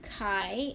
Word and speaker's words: chi: just a Greek letter Chi it looks like a fancy X I know it looks like chai but it's pronounced Chi so both of these